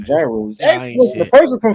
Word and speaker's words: gyros: It starts with a G, but they pronounce it gyros.